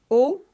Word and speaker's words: eau: Eau, c'est eau très fermée.